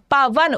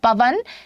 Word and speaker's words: पवन: बतानी है संधि पवन पवन उच्चारण करेंगे अगर आप लोग यहां पर तो पवन क्या हो जाएगा अव की ध्वनि निकल रही है अव कब बनता है